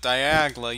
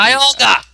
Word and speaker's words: Dialga: Yeah, I realize it, but you realize how much time I'm spending with Diagla. You could at least be making... Dialga!